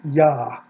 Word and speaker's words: Yah: there it is yah that is the first syllable of the divine name yah we know it absolutely categorically because the short form of the divine name yah the two consonant short form has an a vowel consistently in the hebrew bible